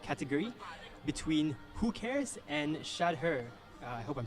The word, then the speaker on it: Shahder: between Who Cares and Shadder. I hope I'm saying that right. Yes, you are to a certain extent. Well, many people pronounce it differently, but Shadder it is.